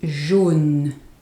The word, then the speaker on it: jaune: Jeune, young, jeune, and jaune, yellow, jaune. So in the first one, it's the sound E, jeune, E. In the other one, it's O, jaune, O, jaune.